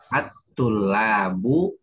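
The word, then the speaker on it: الطلاب: saja yang pr-nya ini Ini bacanya attullabu investment Oh iya pasnya nah ini alif lam nya nggak dibaca Buya kenapa nggak dibaca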